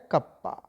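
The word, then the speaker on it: kappa: पढ़ा जाता है कप्पा पढ़ा जाता है इसको प्रोनाउंस किया जाता है कप्पा ठीक है अब समझिए क्या होता है सर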